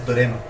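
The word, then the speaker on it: δώρημα: del vocablo en griego dorema dorema nosotros lo leemos así Esta es nuestra pronunciación se escribe así pero nuestra pronunciación es torema que quiere decir regar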